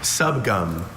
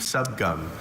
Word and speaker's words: subgum: It's from Cantonese, a Chinese dialect. Subgum. It's got two schwas.